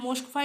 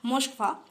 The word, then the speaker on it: Moskva: The missile has been jointly developed with Russia, named after river Brahmaputra and Moskva in Russia.